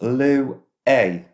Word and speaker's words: Luai: her husband's first child a son named Louis a Louis Louie Louie pronounced Lou a it is of Arabic origin and mean Shield or